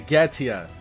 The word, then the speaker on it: Goetia: Okay, Goetia. Got you. The O is silent.